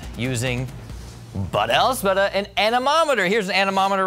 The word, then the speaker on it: anemometer: It's not anemometer, it's anemometer.